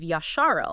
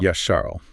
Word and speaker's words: Yasharel: actually the people of Yasharel. Yasharel, meaning Israel. Yes, that's Noel's preferred term, emphasizing what he believes is the original Hebrew pronunciation.